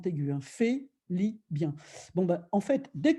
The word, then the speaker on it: Félibien: Parce que dans le système français à la Félibien, ça s'écrit F-E-L-I-B-I-E-N, avec un accent aigu, hein, Félibien.